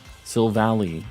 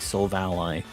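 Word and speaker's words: Silvally: for too long um sill Valley is yeah so I used to say sill Valley as well until I watched the anime and he's like so valite and I always said Soul Valley too but I get you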